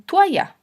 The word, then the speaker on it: toalla: Por ejemplo, algunas personas dicen toalla. En cambio, la palabra es ya. Hay que separarlo en 3 sílabas porque la O y la A son fuertes y hay que separarlas.